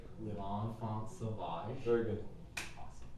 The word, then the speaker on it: L'Enfant Sauvage: I'm gonna make sure I pronounce this right. Yeah. L'Enfant Sauvage.